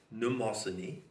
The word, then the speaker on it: Mnemosyne: Starting at the top, remember, the Muses are the nine daughters of Mnemosyne, spelled M-N, begins with, and it's pronounced N, Mnemosyne.